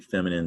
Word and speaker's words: feminine: Not feminine, it looks like that's a thing to remember when you're spelling, but it sounds like feminine, the old French word, but with an E added, so feminine, not nine, min.